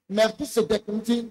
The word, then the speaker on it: Melchisédek: Ici, on le prononce pour Melchisédek.